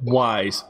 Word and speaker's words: Ys: I don't know how the hell I'm going to pronounce this. Wise? Yes? It's called Wise.